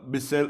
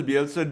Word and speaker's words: Bielsa: and um i think as much as uh bisell uh how he's pronouncing him elsa sorry yeah as much as bielsa did for leeds i think it was time